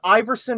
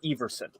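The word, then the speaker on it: Iversen: both ways on it is it pronounced Iverson or Everson well if you're from America is Iverson we don't care that's how we do it it's it's probably clearly Everson I'd imagine so but it's Danish is one of those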